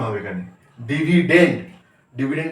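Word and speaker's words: dividend: আই ভি আই ডি ই এন ডি ডি উচ্চারণ হবে এখানে ডিভিডেন্ড ডিভিডেন্ড কে বলবো আমরা ভাজ্য আচ্ছা ভাগফল ভাগফল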